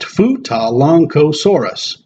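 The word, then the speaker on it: Futalognkosaurus: The genus name is derived from the local indigenous language mapu dungan and is pronounced futa lancosaurus.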